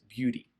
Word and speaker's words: beauty: wrong with that but for the American English accent standard American English accent we pronounce it as beauty for more information about